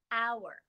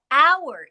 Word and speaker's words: hour: some words like our hour what time is it what hour is it well with hour even though the beginning of the word is spelled with an h we don't say the h the h is silent